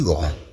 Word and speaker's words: grand: أن أنفون غورمون Je suis grand. Je suis grand. Je suis grand. أنا كبير. في المؤنث تقول البنت Je suis grande. Je suis grande. نضيف أ فتنطق د في المؤنث.